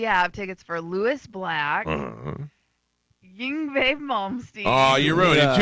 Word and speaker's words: Yngwie: No, we have tickets for Lewis Black, Yngwie Malmsteen. Oh, you ruined it. 2 days in a row. You had it nailed it. Yngwie?